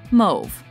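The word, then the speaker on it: mauve: cause and pause however this word is derived from old French and therefore is pronounced move result I could move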